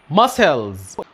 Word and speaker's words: muscles: لما يجي قبله حرف الاس حرف السي لا ينطق، زي كلمة scissors وزي كلمة muscles.